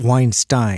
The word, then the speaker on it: Weinstein: brett weinstein you know someone corrected it it's is it weinstein or einstein he pronounces it weinstein weinstein okay so brett weinstein and